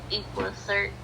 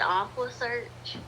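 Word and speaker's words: EquuSearch: And then he was like, after that, it was like, I'm so tired of, he mispronounced Equisha. Equa search. And he said Aqua search.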